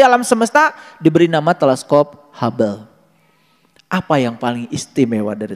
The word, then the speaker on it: Hubble: Hubel itu tali. Ada teleskop hable buatan Amerika. Yang membuat teleskop itu adalah Mr. Hubble. Ditulisnya Huble. H U B L E. Huble. Dibacanya hub.